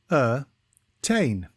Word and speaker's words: ascertain: a time today's word is Asain it is pronounced as aain and is spelled a c e r t